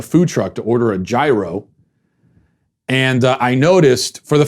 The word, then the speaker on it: gyro: I think that's how he pronounced it, gyro, like with a Y. And I thought, is that? And then I looked it up and that's actually what I'm supposed to be saying. Gyro, not gyro.